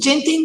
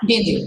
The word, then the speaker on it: Ginting: Is it Genting or Ginting? Your surname? Whichever, I think there is not real, just Ginting, I guess. Ginting. Okay. Just to pronounce it correctly. It's fine either way.